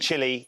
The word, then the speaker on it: Chile: speaking South Americans that I was saying it wrong and I needed to call it it's not Chile it's Chile and you do as you're